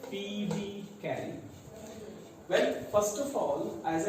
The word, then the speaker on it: Phoebe Cary: Yes, it is pronounced as Phoebe Cary.